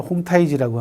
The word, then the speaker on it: 홍타이지: 중국 발음으로는 홍타이지라고 하는데요.